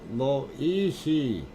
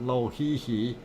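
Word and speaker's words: Lōʻihi: Loihi, no Lohihi, no Loihi. Oh, Loihi, not Lohihi, Loihi.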